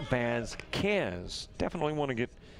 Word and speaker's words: Vasquez: guide by the way Vasquez is bads cans definitely want to get